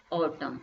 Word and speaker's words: autumn: yellow as it was autumn, AUTUMN, autumn बोलते हैं। इसमें n जो होता है आपका साइलेंट होता है, autumn.